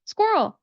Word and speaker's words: squirrel: Now, what we're going to do at the beginning of the word is we're going to pronounce that S sound. We're going to do a little bit for that Q and the U and then transition to the Earl sound again with the dark L ending.